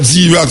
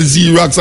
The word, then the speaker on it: Xerox: It starts with X, but it pronounces Z.